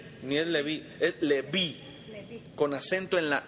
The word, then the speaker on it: Leví: Leví tiene acento en la i. No es Leví. No es Levi ni es Leví, es Leví.